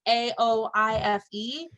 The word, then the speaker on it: Aoife: I think it's Effie, AOIFE, O'Donovan. Aoife. Aoife O'Donovan, and I she happen to be sings.